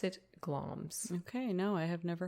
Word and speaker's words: Glamis: It's spelled to look like Glamis. It's like Glamis. Okay. But apparently we pronounce it Glamis.